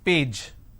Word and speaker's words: page: I have the word which is page. Okay. Now the pronunciation is pa a j, page, correct? But lot of people replace the j with a z, page.